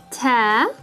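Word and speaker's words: تاء: the english b sound ta or you can connect the dots remember and that's like the frontal t sound as in the word teeth and tha which is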